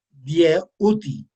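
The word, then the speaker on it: Djehuty: Bien, eh, este, para mí, para algunos de nosotros, para mí particularmente, Hermes Trismegisto, que en egipcio se pronuncia Dieuti, ¿verdad?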